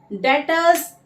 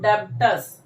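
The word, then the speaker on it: debtors: डेटर्स देखिए, ये जो बी है एक तरीके से आप ये कह सकते हैं कि साइलेंट है, कभी भी इसको डेब्टर्स नहीं कहना।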